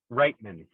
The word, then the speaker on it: Reitman: Reitman.